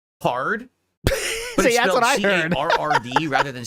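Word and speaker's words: Carrd: I made this page this is called hard but it's spelled c a r r d rather than c a r d it's supposed to be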